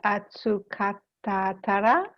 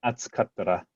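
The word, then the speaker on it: 暑かったら: I heard some extra syllables in there. I just want to make sure they're not there. Moshi atsukatatara, mando o Sorry, one more time. Atsukattara.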